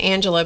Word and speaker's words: Angelia: Her her name is spelled she pronounces it Angela, but it's spelled A N G E L I A.